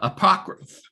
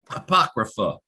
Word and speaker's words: apocrypha: do have some of these non-canon texts uh apocrypha apocrypha if i can say it finally right and